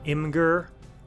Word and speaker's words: Imgur: I think I will start putting all of the posters into like an imager album between missions. So thank you for watching. Have a good night. It's pronounced Imgur.